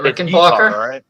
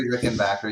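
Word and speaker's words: Rickenbacker: Isn't it Rick and Ber? Is it Rick and Beron? You can say Ber. Rick and Backer. Rick and Ber. Say Rick and Backer.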